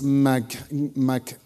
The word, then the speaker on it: McGilvray: Okay, Alex McGilvray. Very good. How do you pronounce it?